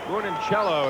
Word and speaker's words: Moncinello: of defensemen including mike moncinello who delivered the heavy hit that time moon and cello is the way it's pronounced mike bunincello the defensive